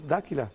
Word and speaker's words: D'Aquila: ¿Hago bien decir D'Aquila? D'Aquila sería D'Aquila. Bien italiano.